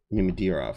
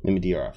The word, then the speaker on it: Mamedyarov: I know I was putting an extra syllable in there. I will always do that. Mamedyarov, because somebody says something else. Mamedyarov, yeah, that's right.